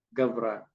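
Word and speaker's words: ܓܒܪܐ: ini gav betul ya, gavra. Sementara saya kasih simbol seperti ini ya, sebetulnya rukakha. Nah, seperti tadi saya sampaikan kalau ada suatnya di tengah maka bunyi-nya enggak perlu diucapkan. Ini gavra aja.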